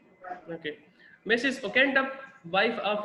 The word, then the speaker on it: Oakentubb: तो पहला कैरेक्टर जो है दैट इज लेडी, उसकी प्रोनाउंसिएशन कुछ इस तरह से है ओकेंटप, ओकेंटप, मिसेस ओकेंटप, ठीक है।